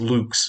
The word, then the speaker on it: lux: latin word for light i suppose i should pronounce it luke's but we're americans so